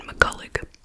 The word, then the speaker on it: McCullough: So we are talking about the case of Virginia McCullough. That's how they're pronouncing it. On everything I've seen, McCullough.